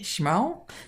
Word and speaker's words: Schmal: Her name is Jenny Schmal. Did I pronounce that right, Jenny?